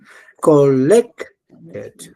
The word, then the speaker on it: collected: Collected. Acento en en la e. No.